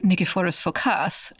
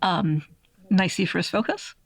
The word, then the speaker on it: Nikephoros Phokas: So here you're here to talk to us about, in Greek, Nikephoros Phokas, but in English, I think we're more likely to hear his name pronounced Nikephoros Phokas.